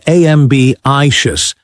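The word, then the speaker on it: ambitious: Stress the first syllable in ambishious but the second in procrastinate.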